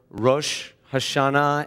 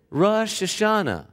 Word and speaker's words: Rosh Hashanah: the jewish new year is often mispronounced in a way that teaches something very important here in the deep south especially people say especially from where hermine hails and the delta rosh hashanah instead of rosh hashanah but perhaps this southern